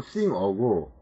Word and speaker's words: singer: 제가 기억하기로는 자, sing어와 같은 사람 행위자를 의미하는 어미 er이 붙을 경우에는 ng의 g가 묵음이 되고 행거와 같은 사물일 경우에는 그 발음이 납니다.